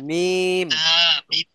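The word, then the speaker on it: م: বা তা মিম তা মিম না, মিম। তা মিম মিম না, আগের থেকে ঠোঁট চেপে ধরা যাবে না। আগে হলো মি বলে টানতে হবে, মিম।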